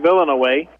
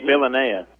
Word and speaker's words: Villanea: I think that they say his name Villanaway. Villanea, is Villanea. Sure.